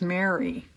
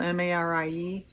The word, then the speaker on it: Marie: say their names, and I swear she says Mary. It's spelled M-A-R-I-E. And anybody that knows her name, isn't it always Marie Dressler?